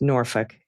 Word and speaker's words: Norfolk: I think Norfolk was always pronounced Norfolk instead of sounding like it looks.